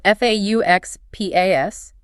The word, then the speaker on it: faux pas: Faux pas, spelled F-A-U-X-P-A-S, but pronounced faux pas, as the YouTube visual tips helpfully point out for the C2 learners. It is a direct French borrowing, and literally translated into English, it means a false step.